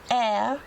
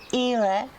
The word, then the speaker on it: Éire: The name of this island and the Republic in Irish Gaelic is Éire or Ire. Depending how you pronounce it.